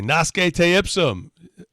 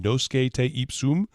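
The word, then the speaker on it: nosce te ipsum: ten years ago and i was mispronouncing uh i'll say nas gay taypsum ornasuke t ipsum i think is what i was saying she was like you mean no skate soom which means know thyself and i'm trying to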